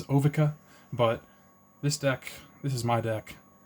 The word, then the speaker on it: Ovika: And I'm going to start with Ovika, Enigma Goliath. I've definitely heard, pronunciations Ovika, but this is my deck.